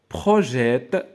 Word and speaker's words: projettent: Leurs eaux projettent. Donc, هنا la même chose. هذا le verbe projeter. D'accord, le verbe projeter. Donc, هاد ENT ما غنطقوهاش.